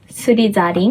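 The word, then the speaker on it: スリザリン: But in Japanese, it's "Gurifindoru" (Gryffindor), "Surizarin" (Slytherin), "Hahurubahu" (Hufflepuff), and "Reibunkuro" (Ravenclaw). Wait, Slytherin is "Surizarin"? Yeah, "Surizarin." "Surizarin"? Yeah, it’s not "zu," it’s "za."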